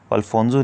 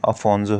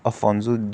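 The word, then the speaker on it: Afonso: अल्फोंसो नहीं है, अफोंसो है। अफोंसो डे अल्बाकर्की। और इसकी एक लड़ाई हुई थी जिसे लीड किया था अफोंसो डे अल्बाकर्की ने, किसके खिलाफ, बीजापुर सल्तनत के खिलाफ।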